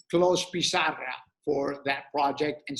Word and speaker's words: Clos: so close Posada closed the French would pronounce it Clos I mentioned that Catalan